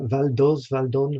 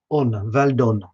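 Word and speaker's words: Val d'Osne: Valdon, Val. OSNE. Valdon. Okay, there's an S, but you don't say it, so that's good, isn't it?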